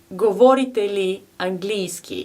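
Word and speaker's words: Говорите ли английски: bogerski neguvoria bogerski lava our next phrase is govoriteli angliski it means to speak english and we pronounce it govoriteli angliski govorite li angliski and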